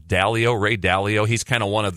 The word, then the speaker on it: Ray Dalio: But clearly, we do see is it pronounced Dalio? Ray Dalio?